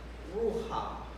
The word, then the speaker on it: ruach: So that to get a full understanding of what this means is, put your hand in front of your face and pronounce ruach. Ruach. You see what happens? You breathe out, don't you?